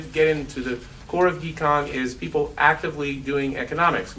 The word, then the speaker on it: GHECon: So we've instituted an effort as part of the Global Health Economics Consortium, which I prefer to pronounce GHECon as in get your geek on.